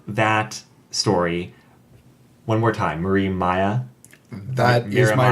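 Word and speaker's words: Mariemaia: But the villain of that story, one more time, Marie Maya. That is my Miramaya? recollection of the pronunciation. Miramaya? My recollection is Marimea. Marimea. But I think that's the dub pronunciation for all intents and purposes.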